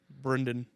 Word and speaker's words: Brendan: yeah Step Brothers I really enunciate the e in his name Brendan yeah everybody says my